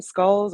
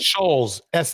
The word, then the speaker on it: Schulz: How do you pronounce his last name? Skulls or Skults or what is it? Shulz, Schulz.